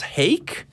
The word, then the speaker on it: Hayk: I want to say this is pronounced Hayk in California. Hayk, tell me if I'm pronouncing your name right. Hi, yeah, so it's Hayk.